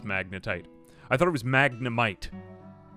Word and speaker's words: magnetite: I did it anyway magnetite or what is it maggotite am I saying it wrong let me just double check no it is magnetite I thought it was